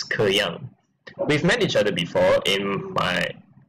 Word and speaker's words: K3Y4NG: So my next opponent of this tournament, his name is K3Y4NG, otherwise pronounced as Ke Yang.